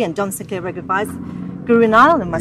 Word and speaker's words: Guru Nile: Guru Nile, G-U-R-U. Okay, there we go. Space, thank you so much. It's a real pleasure. Yeah, I'm like the River Nile, and I'm 4,160 miles.